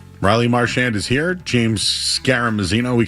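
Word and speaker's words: Marchand: Marshand. Yeah. I mean there's three ways to say it. Marshand. Marshand or the French way. Mar like Marshall.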